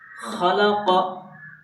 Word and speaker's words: خلق: مرکبات میں مشق ہے۔ خلق، ہجے کیسے؟ خا زبر خا، لام زبر لا، خلا، قاف زبر قا، خلق، اس میں کسی کو لانگ نہیں کرنا ہے۔ اذا وقب، حمزہ زیر